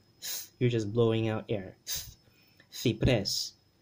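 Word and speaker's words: ciprés: Cipres, cipres, and remember that accent, cipres. Okay, this syllable here, pres, gets the accent or the stress.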